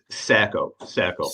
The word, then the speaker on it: Sacco: Let me Seiko, or how do I pronounce it correctly? Sacco, like sack the quarterback.